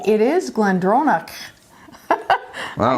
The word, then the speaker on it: GlenDronach: Well, hey, I think I've been practicing my Gaelic since last year because I actually pronounced that correctly. It is GlenDronach.